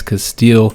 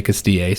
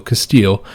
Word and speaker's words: Castile: sound uh but yeah i know everybody hates when i say castille so castile we're starting as castile